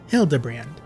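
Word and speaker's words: Hildibrand: It's pronounced Hildbrand.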